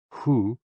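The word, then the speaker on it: hoo: associated with the kidneys h-o-o pronounced like who which is associated with the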